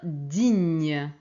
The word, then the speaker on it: digne: ce alors pour finir digne digne c'est comme en italien hein g ici c'est GN alors j'ai enlevé cette